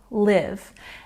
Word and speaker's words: live: But here we're using the short I sound, live.